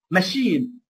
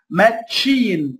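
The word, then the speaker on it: machine: تمام، شيف تنطق شيف، ماشين، ما اقولش هنا ماتشين، هتقول لي سي اتش تنطق اتش، لا دي كلمات تحفظ ملهاش قاعده، نركز يا اخوانا، الكلمات اللي هي من اصل فرنسي دي تحفظ ملهاش قاعده خلاص.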